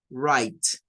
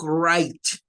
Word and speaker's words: right: Por lo tanto, esta se va a pronunciar igual que esta, solo cambiando la N por el sonido de la R. Right.